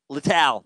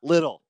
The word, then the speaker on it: Littell: Declined to interview due to the fact that he pronounced my name wrong. Parentheses, it's Littell, not Little.